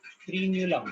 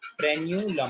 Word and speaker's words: frenulum: पेरिन्यूलम, एफ फ्रीन्यूलम, फ्रीन्यूलम बोलो, फ्रेन्यूलम बोलो, उसको जो भी बोलना बोलो। ठीक है, स्पेलिंग से लिखना बस, FRENULUM, फ्रेन्यूलम। फ्रेन्यूलम, फ्रेन्यूलम, फ्रेन्यूलम is correct.